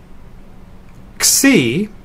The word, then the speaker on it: xi: the N in nu C is another one of the letters that require two English letters to make the sound it's KS sort of like the X in axiom Omicron is the short